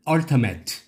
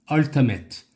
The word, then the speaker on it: ultimate: 스트레스 맨 앞에 있습니다. 이름절. Ultimate. Ultimate. 원래 발음교는요, 얼터머트로 되어 있습니다. 얼터머트. 근데 우리 귀들 귀에는 얼터맷. 그렇죠?